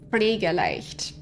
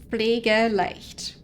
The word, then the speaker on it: Pflegeleicht: So, it's the PF sound. I'm not sure how well it's coming across, but you do pronounce it as a PF sound.